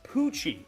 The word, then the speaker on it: Poochie: No, it's Poochie, right? I have been saying it right. I was like, wait, I said it right. They would yell at me. I would probably be beat if I had said it wrong that many times. Yes, it's Poochie. Thank you. Uh, no it's not Pooky.